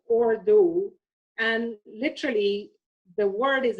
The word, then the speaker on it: Urdu: urdu is actually pronounced as ordo and literally the word